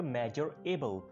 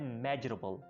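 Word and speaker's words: measurable: मेजरेबल की, ठीक है, इसको आप पहले बोलते होंगे मेजर एबल, लेकिन जिसका आर है उसको आपने एबल के साथ मिला लेना है, और अब आपने इसको प्रोनाउंस करना है मेजरेबल, मेजरेबल, मेजरेबल।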